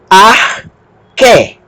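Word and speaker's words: ἀρχή: O alfa vai ser pronunciado como A. Alfa, ro, ar. O que com eta, o que tem som de K aspirado, K, e o eta tem som de E. Arque, arque, que significa princípio, começo.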